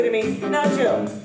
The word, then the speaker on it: Jill: He would say to me, "Now Jill, I will never forget your name because it rhymes with will, and well, you have the will to sing."